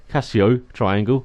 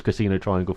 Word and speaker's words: Casio Triangle: As we go through the final chicane now, the Casio Triangle, I believe that's how you say it, not a casino. I believed it was Casino Triangle for the longest time for some reason.